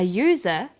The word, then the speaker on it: user: So we say an umbrella, but a user because user sounds like it begins with a y.